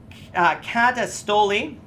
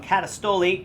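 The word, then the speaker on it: καταστολή: I'll spell that for you if you want. K-O-S-M-I-O-U-S. Katastoli. I said that wrong. Katastoli.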